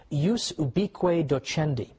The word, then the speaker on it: ius ubique docendi: there was something called, in Latin, and I'm using the church pronunciation, ius ubique docendi, which literally means the right of teaching everywhere.